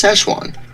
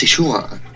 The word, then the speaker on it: Sichuan: european accents australian accents usually each accent pronounces it in a different way to an american it's szechuan but to a chinese it's sichuan food is good food